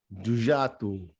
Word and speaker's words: Djoua: Djoua 101. I know that's not the way the word looks, but that's how you pronounce it in Arabic. It is Arabic for undo.